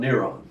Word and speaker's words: Neron: We know that because of the Greek spelling and pronunciation of Nero, or in Latin, Neron. Not moron, Neron.